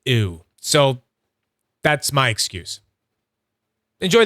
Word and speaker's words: Ooo: It's definitely pronounced ooh.